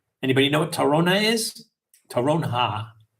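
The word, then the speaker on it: toronja: Terronha. The J is pronounced like an H. Terronha.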